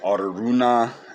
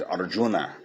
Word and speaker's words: Aruna: aruna kilanani now unfortunately i was pronouncing her name as arjuna which unfortunately arjuna is the prince in the baha gaveta that krishna talks to for some reason i thought that her parents had named her after arjuna not the case so i misspoke her name was aruna dr aruna